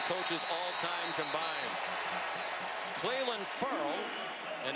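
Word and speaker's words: Ferrell: Cleland Furl, and he did tell us it's pronounced furl, as in refurl, sent Gillespie backwards.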